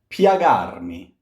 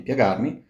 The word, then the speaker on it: piagarmi: Piagarmi. Piagarmi. We've seen this before. This here is a glide. So do not sing piagarmi.